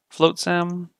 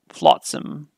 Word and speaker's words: flotsam: Floatsam. No, it's Flotsam. Not float, Flotsam.